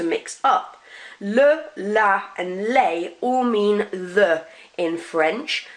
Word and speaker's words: les: We don't pronounce that S on the end. Le, la, les.